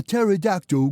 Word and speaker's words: pterodactyl: Say, why can't you hear a pterodactyl going to the bathroom? Oh, that's easy, because the P is silent.